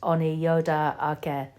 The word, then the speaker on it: Onyota Aka: Oneida is the anglicised name of Onyota Aka, pronounced Oniyoda Ake, which translates into English as People of the Standing Stone.